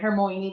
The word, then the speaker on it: Hermione: I think that's how you pronounce it, right? Hermione. That's how we found out on the movies.